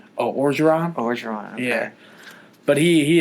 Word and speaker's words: Orgeron: Oh, Orgeron.